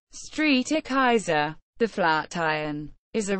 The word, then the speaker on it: Strijkijzer: head strike Dutch pronunciation Street e Kaiser the flat iron is a residential and office